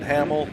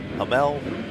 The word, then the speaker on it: Hamel: Reagan Heighton, Riley Temple, Meline Hamill, Hamel. We learned from Shan Garcia exactly how how we pronounce that.